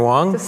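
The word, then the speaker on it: Huang: uh just giving your your name doctor wong ask for doctor long h-u-a-n-g um and then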